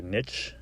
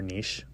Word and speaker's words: niche: up a very particular niche or niche depending on how you want to pronounce that um a photography